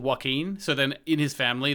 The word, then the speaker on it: Joaquin: uh what's his face yakween that's how i was about to pronounce that joaquin phoenix is a joker